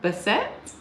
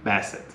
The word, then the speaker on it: Bassett: things with movies and I don't remember how to pronounce her last name even though you looked it up but Angela Bessette Bassett Bassett Angela Bassett has made history by